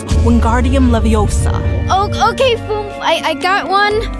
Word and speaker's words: Leviosa: No, V, you're saying it wrong. It's Leviosa, not Leviosa.